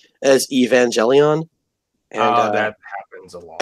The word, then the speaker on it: Evangelion: on a stream pronounced Evangelion as Evangelion. And that happens a lot. And I had to and I couldn't stop myself. I was like, it's a hard G.